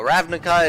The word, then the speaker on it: Ravnica: city of Ravnica uh which I had to look up to make sure I was saying it correctly turns out I wasn't so ravika it is uh the mysterious Shard